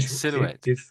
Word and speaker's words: silhouette: That's exactly how you say it. Silhouette. This French word.